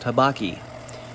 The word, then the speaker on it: habaki: right there, I just cut the habaki, or habuki. Habuchi? I believe it's pronounced habaki.